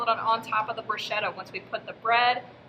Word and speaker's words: bruschetta: let's go over today's nutrition mission main points bruschetta commonly mispronounced as bruschetta is a dish from italy that resembles deconstructed